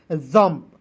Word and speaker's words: jump: उसी प्रकार यहाँ पे JUMP, तो जे का ज लिख दीजिएगा, यू को साइलेंट कीजिएगा, एम का आधा म, पी का प, जंप, JUMP जंप।